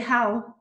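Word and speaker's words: Hywel: J'arrive pas à prononcer son prénom parce que c'est gallois. Oui. Donc c'est How.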